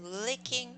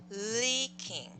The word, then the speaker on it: leaking: one okay Tim's team was licked by the licking roof okay leaking I tried to pronounce long is long actually leaking that's right Tim's team was leaked by the